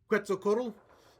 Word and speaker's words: Quetzalcoatl: Quetzalcoatl, the great serpent.